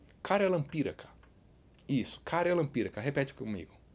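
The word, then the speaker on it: karjalanpiirakka: Yes, Karjalan Piirakka. Repeat with me. Karjalan Piirakka. It took me some time to learn how to pronounce this word.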